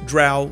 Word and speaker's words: drow: spelled Dr r w I thought it was drow like Crow but I was told it's drow like cow and from what I've